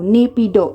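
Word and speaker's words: Naypyidaw: तो यहां पे हम लिख देंगे एन ए पी एन ए वाई पी ए आई डी ए डब्ल्यू नेपीडो इस तरह से प्रोनाउंस करेंगे और इस तरह से इसकी स्पेलिंग होती है।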